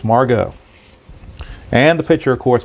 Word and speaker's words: Margot: Yes, it is pronounced Manuel Margot. It rhymes with cargo. So it's Margot.